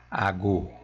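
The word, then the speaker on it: àgò: palavra você percebe que Tem Dois Tons baixos e a pronúncia É ago ago AG ago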